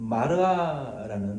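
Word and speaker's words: מראה: 본문 말씀에 보면은 사무엘이 이상을 보았다라고 말하는데 히브리어 원어에 보면은이 이상이라는 단어는 마르아라는 단어예요. 마르아 미러라고 좀 비슷한 발음이죠.이 이 환상이라는 것, 그 위상이라는 것은 원어의 의미는 어 이상의 원어의 의미는 위전이라고도 할 수 있고요.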